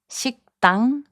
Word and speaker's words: 식당: 식당, which means restaurant, is pronounced as 식당.